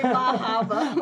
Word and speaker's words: Bar Harbor: Bar Bar Harbor. Harbor, but they don't pronounce their Oh, R. say Bahaba. I said Bar I like Harbor it.